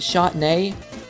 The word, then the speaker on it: Shantae: born a girl and she said shot nay yes like like the wine but spelled like Shantae my mother has a